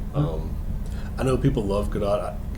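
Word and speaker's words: Gadot: I know people love GDOT is it g or G I can never say it right I think I've seen enough interviews with her that when I hear her say her own name it's GDOT GDOT okay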